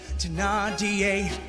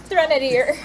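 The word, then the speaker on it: Thénardier: Away to Nadia. Do you think I don't know? That's how you say his name? To Nadia? That's. I thought it was Threnodier.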